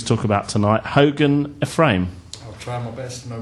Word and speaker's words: Ephraim: Hogan Ephraim. I'll try my best, no pressure. First of all, did I pronounce the surname right? Ephraim, yeah.